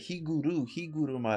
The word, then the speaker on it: 日車: I was specifically saying Higurama last week is I feel like it comes out better, but like I do get it. Higuruma, like that's more of a Japanese pronunciation.